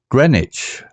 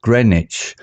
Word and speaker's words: Greenwich: hermion he replied there is a place called Grenich pronounced Greenwich known for its unique time Observatory sir worcester's